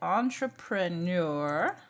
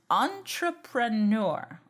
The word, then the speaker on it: entrepreneur: that would be incorrect here it sort of has a short a sound on entrepreneur entrepreneur okay so what does